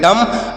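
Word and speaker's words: dumb: देखते हैं अगला शब्द डी यू एम बी तो इसे क्या पढ़ेंगे डी यू से पढ़ेंगे ड और एम से पढ़ेंगे म और यहां पर भी बी साइलेंट है बी साइलेंट है इसे हम नहीं पढ़ेंगे तो इसे क्या पढ़ेंगे इसे पढ़ेंगे डम डम मतलब क्या होता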